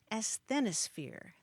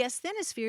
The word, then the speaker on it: asthenosphere: the word that really stopped me short was asthenosphere that's a s t h n o sphere